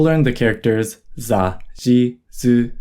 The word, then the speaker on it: ず: Su with the dakten is pronounced zu.